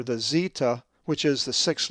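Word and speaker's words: zeta: The 6th letter of the Greek alphabet is the upper and lowercase zeetah, which is always pronounced with the z sound as our English z.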